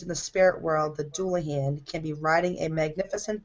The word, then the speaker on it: Dullahan: It's pronounced Dullahan.